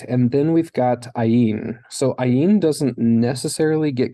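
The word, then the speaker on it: עין: in snake and then ayin which we've covered is one of The Silent Ones so we've got three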